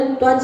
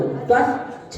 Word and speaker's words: त्वच्छ: हाँ, तनो फिर त्वच आधा चा, पूरा चा नहीं बना, त्वच नहीं बोलना, त्वच्छ कीर्तिम, त्वच्छ कीर्तिम।